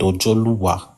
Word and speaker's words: Ojoluwa: So, our people call him Ojo Oluwa, but in our pronunciation is called Ojoluwa because it's a name that still exists in Ijebu and Ishekiri.